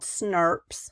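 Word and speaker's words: snRNP: The introns are going to loop out as these special little particles called SNRPs. That's how it's pronounced.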